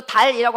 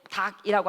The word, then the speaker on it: 닭: 이거 달이라고 발음하면 돼? 안 돼? 안 돼요. 이거 어떻게 발음해야 돼? 닭이라고 한다고. 자, 그러면은 얘는이 리을 기억은 지금 어, 말의 위치일까?